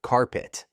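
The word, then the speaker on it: Card-Pitt: The result, a team so bad they went 0 to 10 and were nicknamed Card Pit, pronounced carpet, because everyone walked all over them.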